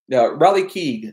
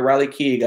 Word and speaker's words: Riley Keough: All in all, Riley Keough, I think she's in here. Riley Keough, I believe, is how you pronounce her name.